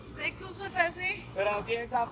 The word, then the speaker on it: Cúcuta: ¿De Cúcuta? De Cúcuta, sí. Pero así es a pronunciar, mano, de Cúcuta.